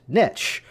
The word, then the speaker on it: niche: the word that's spelled N I C H E, is it pronounced niche or is it pronounced niche? And really the preference is the word niche because it rhymes with rich.